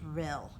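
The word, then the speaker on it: rille: shape next word is real even though it ends in an E is pronounced real a long narrow valley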